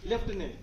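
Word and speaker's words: lieutenant: famous शब्द हिंदी में बोलते लेफ उ करते लेफ ट स् तो नहीं बता पाएंगे ए सही कर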